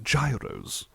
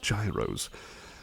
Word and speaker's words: gyros: are they called uh Gyros believe that's how it's pronounced Gyros kind of like um